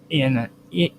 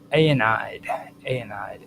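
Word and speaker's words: Aeneid: A notable case is the hero a anas in Virgil's anide anide ae n e i d who was frequently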